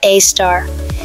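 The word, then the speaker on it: Sagittarius A*: At the very center of the Milky Way is a gigantic mystery, a super massive black hole called Sagittarius A, pronounced a star.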